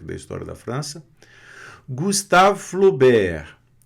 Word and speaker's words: Flaubert: Gustave Flaubert, não pronuncia o T, Flo, né? A U da O. Gustave, né? Tem esse E aqui, o V vai ficar mudo aqui, sem o E. Gustave Flaubert.